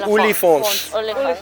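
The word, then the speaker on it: Oliphaunts: Hence, the Afrikaans for elephants is Olifants.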